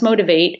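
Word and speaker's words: Motiv8: And the title is Motivate, which is spelled Motiv, and then the number 8. So it's pronounced Motivate, and the tagline is 8 ways to rock your own world.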